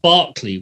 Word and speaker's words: Berkeley: about 10 minutes drive from a place called Barkley which you would call Berkeley you know so's